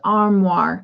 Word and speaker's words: armoire: let me know all right penny says no pronounced armoire okay all right i gotcha mayor says there